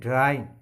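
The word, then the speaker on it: dyin': Actually it is dyin is self-created word by the poet. Actually the word is dying. For the sake of rhyme scheme, here it is mentioned dyin, and dyin rhymes with lion.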